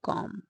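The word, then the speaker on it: comb: my back with a कॉम कॉम ब बी का यहां पर प्रोनंसिएशन नहीं करेंगे गाइस कॉम बोलेंगे बी साइलेंट है यहां पे कॉम ओके स्क्रैच माय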